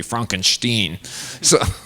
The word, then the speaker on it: Frankenstein: It's just the way and I was, somebody reminded me during the Academy Awards that Gene Wilder reminded us that the pronunciation is actually Frankenstein.